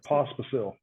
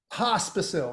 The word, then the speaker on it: Pospisil: Pospisil. Pospisil.